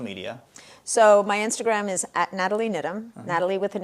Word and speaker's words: Nathalie: They just throw them in for decorative purposes because we don't pronounce them.